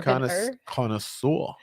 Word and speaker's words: connoisseur: connoisseur. Oh, connoisseur, huh? Connoisseur. How do you say it? Like Yes. French style.